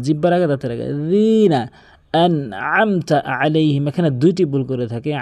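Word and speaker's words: أَنْعَمْتَ عَلَيْهِمْ: এখানে আইন রয়েছে, দেখুন অধিকাংশ লোক বলে আনআমতা আলাইহিম, বলতে হবে আনআমতা আলাইহিম, এভাবে আনআমতা আলাইহিম, বারবার প্র্যাকটিস করবেন তাহলে আপনার হয়ে যাবে।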